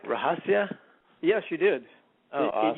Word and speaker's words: Rahasya: did I did I say your name right rahasia yes you did oh it usually gets butchered but that's pretty good all right so